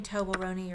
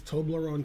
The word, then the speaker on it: Toblerone: game and end game it means toblerone that's all moroni i know how to say it it's toblerone taste tester because he's you